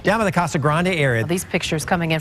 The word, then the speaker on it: Casa Grande: morning to students in CA Grande the kasag Grande area these pictures coming in from CAG Grand dispatch the proper pronunciation of the city is kasag but Mayor Bob jackon